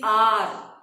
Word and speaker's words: hour: No, that's what he wanted to wear new coat every hour. What I said? Hour. H is silent.